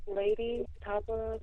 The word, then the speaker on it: Lei'D Tapa: made you call yourself Lady Tapper? Where did that came from? it came from, well, the way it's pronounced Lady Tapa, but it's spelled Lei, and the lei stands